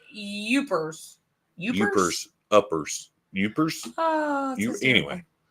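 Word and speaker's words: Yoopers: It's pronounced Youpers.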